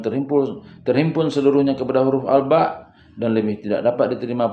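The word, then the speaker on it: الباء: Tetapi kalau membacanya secara tunggal ialah alba dengan ditekan sedikit ujungnya sehingga berbunyi ada hamzah.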